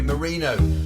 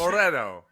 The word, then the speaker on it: Moreno: Moreno. Is it Moreno? Moreno. Moreno.